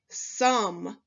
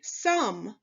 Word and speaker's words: some: In this word you see on this tricky word card, the spelling O space E is not pronounced O. That's why it's tricky. It's pronounced Do you know this word? This word is some. Say some.